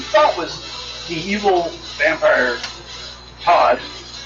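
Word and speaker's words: Tahd: But in the process, the guy that you thought was the evil vampire Todd, spelled T-A-H-D, yeah. But they give a little sound or a little pronunciation thing, and they say Todd.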